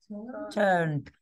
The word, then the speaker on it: turned: Turned. Because you're just pronouncing it d, not ed.